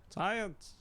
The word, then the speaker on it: science: Science. That's got an S and a C and the C is silent.